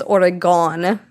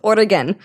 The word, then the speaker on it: Oregon: in the states they can't even pronounce Oregan they think it's origon or something that's how I hear it all the time and it's Oran just so everyone is listening